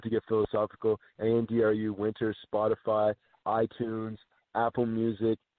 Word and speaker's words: Andru: Yes, I know it's spelled weird, but it's Andru, winter, as in the